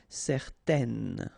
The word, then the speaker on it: certaine: Okay, so it's nasal in your nose, un. Okay, if you add this at the end, then it will change the thing, and then you will pronounce it n.